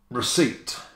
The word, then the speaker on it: receipt: The next word is receipt. Look at this word. Receipt. I mean, the C-E-I is already tough, but the P, I mean, the P. What P?